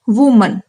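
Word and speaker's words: women: सिर्फ ए से ई होगा, लेकिन इसका प्रोनाउंसिएशन तो होता है वुमन और इसका प्रोनाउंसिएशन होता है वीमेन।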